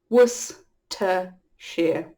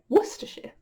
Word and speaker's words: Worcestershire: But we're a nation of lazy speakers, and we have shortened the word over time, so it's Worcestershire. Worcestershire. Worcestershire.